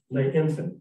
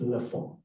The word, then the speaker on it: L'Enfant: So that, and it said that Lisette died as lay infant, L'ENFANT. And she says, "That's pronounced Le Fond."